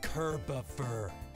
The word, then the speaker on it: Kerboffer: Dude, I've told you like 11 times now it's pronounced Kerboffer. It's like Christopher, except Kirbier.